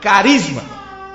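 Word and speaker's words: χάρισμα: Dom aqui ela vem da palavra grega Carisma que nós pronunciaríamos como carisma e esta significa um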